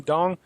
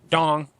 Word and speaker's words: dong: That's Vietnam dong. By the way, I found out you're not supposed to pronounce the G, just like when you say Alkademi.